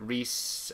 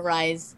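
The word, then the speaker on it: Rhys: I've known a Rise. I think David Guider. I did ask David Guider when I originally reviewed Asunder, how the fuck do you pronounce Reese and Evangeline? He says it's pronounced Reese, I think.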